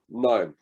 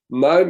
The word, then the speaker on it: KNIME: So the tool which I personally like the most is called KNIME. I'll put it in the chat box here. It's spelled K-N-I-M-E.